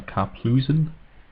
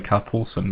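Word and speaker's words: Karplusan: One plays a no, Carplusen. I always used to say Carpulsen, but that's not actually how that's spelled.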